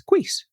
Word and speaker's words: Cuis: And in one part of the world, there's this little roadside hamstery thing, and the noise that makes is Cuis.